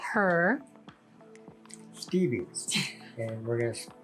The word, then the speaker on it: Stevvi: little mini skeleton but we would call her stevie and we're going to spell it you don't even know this yet we're going to spell it s-t-e-b-v-i stevie stevie it's stevie stevie i've been spelling it wrong